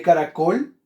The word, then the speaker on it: caracol: listo excelente muy bien la sílaba tónica de caracol es la última por lo tanto qué